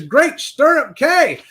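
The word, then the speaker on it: Great Stirrup Cay: hold on I don't want to say the name wrong what is the name of that place it is great sturup K that's right great sturup K was a great Beach day a great Beach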